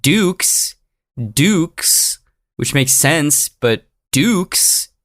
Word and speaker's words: Dux: Yeah, it looks like our boy Frank Dux, which makes sense, but Dukes is how it's pronounced, not Ducks, even though I've been saying Ducks, because it's spelled D-U-X, Ducks.